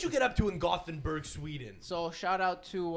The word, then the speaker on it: Gothenburg: like yeah I'm so we're here in in Gutenberg he's like it's gothenberg and make sure you let kubani know specifically that it's pronounced gothenberg I think he was that sounds like him